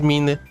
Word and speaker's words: Mine: So, if it's a Japanese name, the pronunciation is Mine.